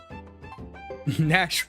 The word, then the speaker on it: Nash: Nash rhymes with corned beef hash?